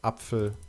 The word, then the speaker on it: Apfel: For instance, in German, the letter P shifted to PF. Whereas in English, we still have words like apple or plow. In German, they are now pronounced as Apfel or Pflug.